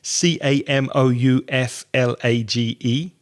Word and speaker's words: camouflage: want to be seen camouflage it sounds French C a.m. ouf la GE camouflage it's also a verb